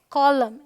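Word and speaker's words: column: होती ये है ऑटम यह है कॉलम एंड साइलेंट है यहां पे ऑलराइट यहां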